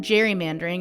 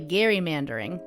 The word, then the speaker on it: gerrymandering: It's actually Gerrymandering, but everyone says Gerrymandering. If you want to be the one person that says Gerrymandering, you go for it. Yeah, conferences and classes, when I'm with colleagues, I'm often the only person who resorts to Gerrymander, but I'm fighting the good fight. I think it's the right pronunciation and it does justice